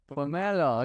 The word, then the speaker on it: Pomerleau: Okay, next stop we have got Araham from Hey Aram, you're going to have to help us pronounce Pom Pomelo. Pomelo.